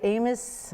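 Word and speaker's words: Amis: It was at Amos Mill. It's pronounced Amy. It's Okay. A-M-I-S, but it's pronounced Amy Mill.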